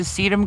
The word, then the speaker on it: sedum: Oh, is it the sedum gone to seed? Sedum has gone to seed. Like a succulent. Just yeah, I don't know. It's spelled S-E-D-U-M. It smells. It sounds like I'm saying something else.